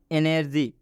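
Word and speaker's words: energy: एनर्जी, जी के बाद वाई आया हुआ है इसलिए जी का उच्चारण ज हुआ है।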